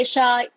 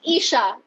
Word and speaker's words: Eisha: No, Aisha is AI. It's Isha.